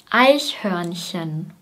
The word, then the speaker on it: Eichhörnchen: Eichhörnchen. Das EI wird wie ein Ei ausgesprochen. Ei, Ei.